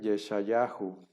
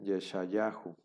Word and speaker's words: Yeshayahu: ejemplo isaías se escribe yeshayahu nosotros decimos isaías pero en realidad se escribe yeshayahu como se pronuncia y